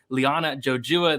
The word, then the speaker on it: Liana Jojua: We got Sparring with Reality talking about some Liana Jojua. There you go.